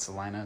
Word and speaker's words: Celina: this uh up in Salina Texas Selena Salina the local call it Celina so I've kind of adopted that but it's spelled Selena um nice little bar right